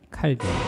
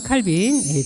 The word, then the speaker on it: 칼뱅: 존 칼뱅. 또는 짱칼뱅이라고도 하고 막 이렇게 발음은 여러 가지로 합니다. 자, 중요한 건 뭐냐면 이제 유한 칼빈, 존 칼빈이 이제 창시를